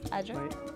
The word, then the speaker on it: Ajay: The Mugisu and me couldn't pronounce the full name is Ajay. Ajay. A-J-A-Y.